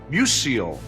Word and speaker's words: Musial: Musial. That's the way he pronounced Stan Musial's name.